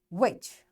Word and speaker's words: which: Sometimes the letters T, G, and H are not pronounced in a word. For example, echo, design, which.